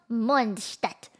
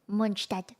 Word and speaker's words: Mondstadt: It's a place called Mondstadt. It's based off of Germany. You have to say it like a German. Mondstadt.